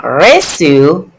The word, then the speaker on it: reçu: Now, reçu has the cd, so it's a soft sound, reçu.